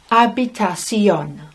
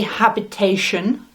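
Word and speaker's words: habitación: might have in otel a room is una habitacion so the pronunciation is abitacion habitacion don't say habitation anything like that abitacion and you can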